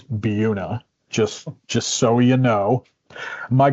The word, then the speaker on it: Buena Vista: And everybody in their region, I think, has places on the map that are not pronounced the way that they look and that the rest of the world might think they are spelled or pronounced.